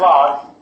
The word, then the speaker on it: ln: that either log X X Ellen is pronounced law is very more serious